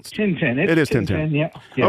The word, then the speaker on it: Tintin: Is it Tenten or Titine or how how's that pronounced? Tenten.